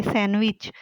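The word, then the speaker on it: sandwich: आगे सैंडविच, D silent है इसमें, डी लिखने में आता है, पढ़ने में नहीं आता।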